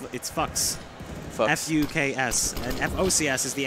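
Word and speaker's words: Fuks: It's actually, it's Fucks.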